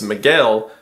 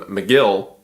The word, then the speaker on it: Miguel: There is a Mexican man in the company whose name is Miguel, but the Americans don't care to pronounce it correctly, so they just call him Migill.